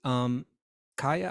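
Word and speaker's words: Kaia: How are we supposed to pronounce Kaya. that? You pronounce that Kaya. How do you know that? I looked it up. Kaya. It's K-A-I-A.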